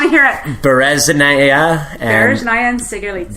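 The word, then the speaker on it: Sikharulidze: So I'm going to butcher these guys' names. Sigerlitsi? Yeah. Come on, I want to hear it. Bereznaya and Sigerlitsi.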